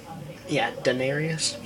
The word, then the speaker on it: Daenerys: Daenerys. Sorry, I said her name wrong.